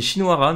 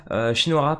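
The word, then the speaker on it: Shinohara: très intéressant aussi alors lui j'arrive jamais à le prononcer c'est shinoara normalement si je me trompe pas shinoara pareil très très bien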